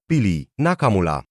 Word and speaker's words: Nakamula: Also note that in tokyp pona, stress is always on the first syllable. So Nakamura becomes Nakamura.